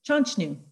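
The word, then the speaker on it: Chanshtnu: to the next slide chonchnu is actually um there was no um chester there was no mr mrs chester uh chester was just a mispronunciat mispronounced mispronounced version of the de nina word the denia word uh is chanchnu so chanchnu is chester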